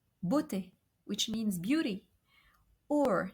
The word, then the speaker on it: beauté: So each time we have an EAU, we should pronounce a closed O, comme like in the word beauté, beauté, which means beauty, or cerveau, brain, cerveau.